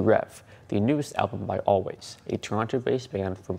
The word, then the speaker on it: Alvvays: 2022 best albums while always which is spelled a l VV a y s was originally a lesser